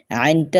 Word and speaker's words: ع: আইনটা উচ্চারণের নিয়ম হলো, আইনটা যখন উচ্চারণ করবেন তখন আপনার গলার মধ্য থেকে একটা গেরগিরি শব্দ হবে।